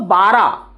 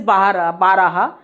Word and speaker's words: बारह: This also bara, but actually it is baraha. But when we speak very fast, bara.